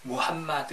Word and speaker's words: 무함마드: 어 제가 알려드리도록 하겠습니다 우선 어 마음에 트라고 하는데 이 표현은 잘못된 발음 이구요 약간 영어식 빵 바탕 때 본래 이제 언어는 무함마드 예요 왐마 드 어 그래서